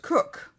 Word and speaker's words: Koch: Koch, Koch, Christina Koch. Yeah, is I've heard it pronounced Cook.